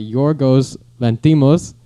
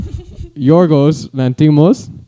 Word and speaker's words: Yorgos Lanthimos: It was written by Yorgos Lanthimos and Sorry, repeat that name? Yorgos Lanthimos. One more time, just so everybody knows how to pronounce it. Yorgos Lanthimos.